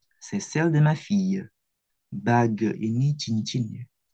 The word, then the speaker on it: ma fille: Ce sont ceux de ma fille. Ces chaussures sont à toi? Ini feminin plurial. Celle-là, non, ce ne sont pas les miennes. Ce sont celles de ma fille. Bacanya ma fille. Kayak ada y-nya.